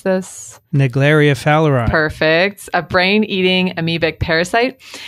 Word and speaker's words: Naegleria fowleri: research on, Vincent, do you know how to pronounce this? Naegleria fowleri.